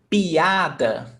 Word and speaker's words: piada: Piada. Piada. So you listen very carefully. clearly. Piada. It's not piada.